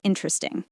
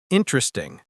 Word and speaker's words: interesting: That's interesting. Perfect. Let's talk about pronunciation of interesting. Many learners say it with four syllables. Interesting. But in natural speech, native speakers say it faster.